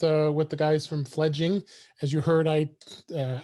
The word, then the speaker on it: Fledging: and i did i i called it fledgling i don't know why but it is spelled uh f-e-f-l-e-d-g-i-n-g so it's fledging um so uh uh